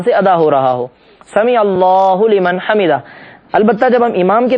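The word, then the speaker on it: سمع اللہ لمن حمدہ: غلط سلط طریقے سے ادا کرتے ہیں۔ صحیح تلفظ ہے سمیع اللہ لمن حمیدہ۔ ہم یہ جملہ صحیح طریقے سے ادا کرتے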